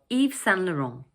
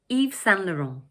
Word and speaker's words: Yves Saint Laurent: In the second word, we drop the final T and we say Saint. And the third word is pronounced Laurent. So all together, we say Yves Saint Laurent.